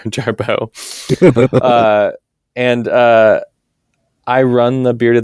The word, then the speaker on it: Jarboe: Sometimes I go by the drag name Jarboe, which sounds exactly like my name sounds. It's just spelled with a pretentious French spelling, Jarboe.